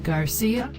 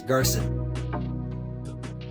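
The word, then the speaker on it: Garza: your last name again garcia actually it's garson how do you spell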